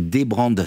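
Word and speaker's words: dbrand: animations sont sont folles ça s'appelle donc ça s'écrit débrandes sans eux DBR a n D et c'est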